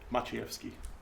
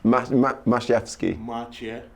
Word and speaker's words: Maciejewski: Maciejewski. Fuck, that's so cool. Maciejewski. Maciejewski.